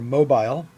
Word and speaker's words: mobile: A Jewish friend in Brighton phoned the Brighton and Hove Hebrew congregation with her mobile, and in parentheses, pronounced Mo-bile, with 3 syllables, unlike the 2-syllabic of Mobile, Alabama, end of parentheses.